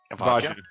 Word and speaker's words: Vajjya: So, how is her name pronounced? Vajjya.